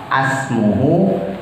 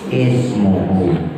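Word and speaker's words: اسمه: Maka dibacanya bukan asmuhu, bukan usmuhu, tapi ismuhu.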